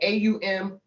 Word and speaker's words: Om: is all on okay a-u-m is how it should sound though it's spelled o m um um and then Focus